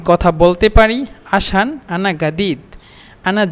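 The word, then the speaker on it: جديد: আসান আনা গাদিদ, আনা জাদিদ মূলত, কিন্তু এখানে মিশরেরা জিমকে গয়ন বলে, এই জন্য আনা গাদিদ।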